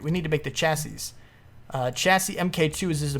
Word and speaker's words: chassis: The chassis.